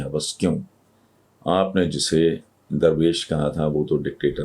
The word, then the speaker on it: درویش: Basically اس کا تلفظ ہے درویش. لفظ درویش نہیں ہے، درویش ہے.